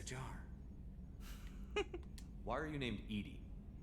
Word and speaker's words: EDI: why are you named Edie Edie is the phonetic pronunciation of EDI that is an acronym for enhanced defense intelligence oh where are you